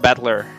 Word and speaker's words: Battler: far the problem is my own name that is made up of characters for fight and person and it's pronounced battler put it all together